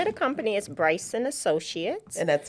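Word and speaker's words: Briason: And we pronounce it as my son's name, which is Bryson.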